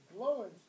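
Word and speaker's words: Glóin: Gimli, Gloin's son. Gloin, not Gloin. Doesn't rhyme with groin, in other words.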